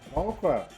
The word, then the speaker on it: Krause: Paul Krause. Man, Paul Krause is the all-time NFL leader in interceptions. He has 81 interceptions. And when I go back, let me say this. Paul Krause got drafted in 1967.